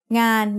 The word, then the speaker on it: งาน: งองู สระอา นอหนู makes งาน งาน means work. The sound of นอหนู makes it a live syllable, so it is mid-tone.